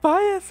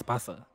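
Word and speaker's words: Barça: I'm at bias. Oh. Well, I don't know. I was got too excited there and I butchered the name. It's Barca.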